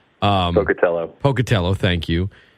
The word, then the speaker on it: Pocatello: hometown and poell Idaho I'm not I'm probably pronouncing it wrong um poell Pocatello thank you it's cold there tesm Hill is